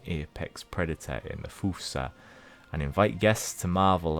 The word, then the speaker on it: fossa: new animals welcome the fusa you could also call it the fossa if you want but I believe fusa is the official pronunciation the LA Gibbon the